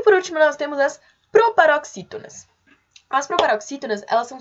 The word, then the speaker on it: proparoxítona: A palavra proparoxítona é também uma proparoxítona, que se a gente for chamar proparoxítona, a sílaba tônica é o xi, proxi, né?